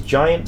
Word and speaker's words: Jiant: his name Brad uh his name is giant spelled with a j j i a n t excellent a link to